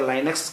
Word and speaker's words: Linux: लिनक्स या लाइनक्स, कभी कभी कोई लोग कुछ लोग लिनक्स प्रोनाउंसिएशन करते हैं और कभी कभी कुछ लोग लाइनक्स प्रोनाउंसिएशन करते हैं, और आपको जो करना है आप कर सकते हैं, कोई प्रॉब्लम नहीं है।